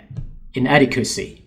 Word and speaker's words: inadequacy: As I can see that the stress of that word is on inadequacy, inadequacy.